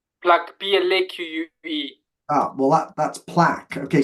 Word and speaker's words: plaque: Okay, pronunciation's really important there. Plaque. Because I don't know if you're saying plaque or plug. Plaque, P-L-A-Q-U-E.